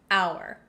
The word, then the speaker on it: hour: like o u r we totally get rid of the h sound and that's why we say an hour on the other hand